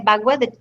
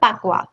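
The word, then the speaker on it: bagua: in that okay and that is spelled b a g UA so that's b a g a u yes it's not pwa there's another word called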